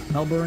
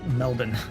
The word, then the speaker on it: Melbourne: water gun wck shop Melbourne is pronounced melbour Melbourne also hi what's up Anna how you doing it's Melbourne really I feel like there's too many there's too many letters for all that melbin Anna how you doing